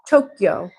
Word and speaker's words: Tokyo: And you say it Tokyo. Like two syllables.